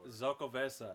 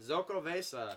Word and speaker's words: Xocoveza: Xocoveza. Xocoveza.